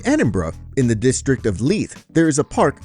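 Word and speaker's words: Leith: In many British accents, the pronunciation is literally the same because many Brits pronounce th as F or V, depending on whether a th is sounded in the given word.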